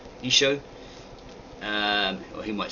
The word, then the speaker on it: Isho: In the Assyrian Aramaic, it's Isho, Y-S-H-O, Isho.